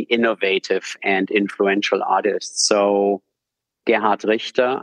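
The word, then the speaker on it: Gerhard Richter: and influential artists so Gard Richa I'm pronouncing this deliberately in German and not in my German American accent is basically a foundation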